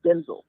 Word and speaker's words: Denzel: right no not offer I keep saying his name wrong his name is Denzel Washington his name is his name is Denzel Washington he did a video where he actually did an interview and said that everyone's always said his name wrong it's Denzel so he knows his mama